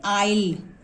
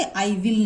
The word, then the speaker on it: I'll: ठीक है, WILL, तो हम शॉर्ट फॉर्म में कैसे लिखते हैं, IFSTOPHY तो इसको हम कैसे प्रोनाउंस करेंगे, आइल, आइल। ओके, आई विल नहीं, आइल।